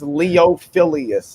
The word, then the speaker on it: Leophilius: That when it was Leophilius is how it's pronounced, and a lot of people get it right, but then there's those that are like Leophilius.